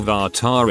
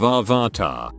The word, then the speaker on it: Avatar: lines of the movie they must pronounced avatar and said or vartar instead of avarta the movie was terrible